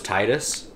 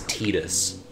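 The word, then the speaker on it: Tidus: say his name so I always thought it was Titus cuz that sounds like a name although like a final fantasy name and apparently it's tedious and it wasn't as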